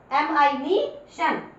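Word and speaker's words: admission: जब double SION लिखा जाएगा, ध्यान रखना इस पूरी की पूरी स्पेलिंग को आप शन की आवाज दोगे। कैसे, एडमिशन, एडमिशन।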